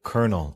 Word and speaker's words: colonel: For example, the word colonel in English uses the Italian spelling but the French pronunciation.